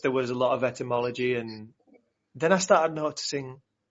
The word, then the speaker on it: etymology: Etymology, is that how you pronounce it? Etymology is right, yeah.